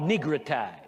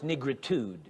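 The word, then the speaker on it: negritude: And I apologize, I mispronounced the word. It's negrretude. congenital disease.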